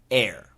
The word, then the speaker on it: heir: A-I-R, air. E-R-R, air. H-E-I-R, air. H-A-R-E, hair. H-A-I-R, hair. So the first three are pronounced the same. A-I-R, E-R-R, H-E-I-R are all pronounced air.